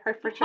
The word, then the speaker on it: Hertfordshire: Am I pronouncing that correctly? Hertfordshire.